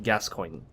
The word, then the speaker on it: Gascoigne: Now, I noticed that somebody pointed out that the katakana for his name is actually Gascoigne. Gascoigne. So, from a Japanese katakana perspective, it would be most accurately pronounced in English Gascoigne, because that's the closest approximation that the Japanese katakana is trying to say it as.